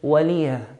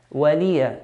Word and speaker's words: ولي: Please note here the lam has a kasra. So you should pronounce the lam with a clear kasra. ولية and not ولية. It's very common to hear لكم دينكم ولي دين. To say ولي دين, we're putting a sukun on it.